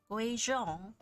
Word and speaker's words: Guizhong: Guizhong.